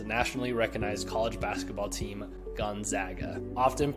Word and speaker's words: Gonzaga: to pronounce Spokane's nationally recognized college basketball team, Gonzaga. Often pronounced Gonzaga or Gonzaga for whatever reason, it is actually pronounced Gonzaga.